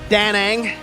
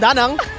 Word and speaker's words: Danang: It's always a really cool when we get to see or hear Eterna pronounce his name, Danang. Danang. We usually call him Danang, but Eterna calls him Danang.